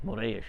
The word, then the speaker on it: Morris: My mother was Frances Morris. They pronounced her name wrong when my vuvu and vovo got here. It's Moreish, actually, is how you pronounce it in Portuguese.